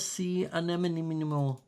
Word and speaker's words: sea anemone: we do have sea anemone. That's how it's pronounced.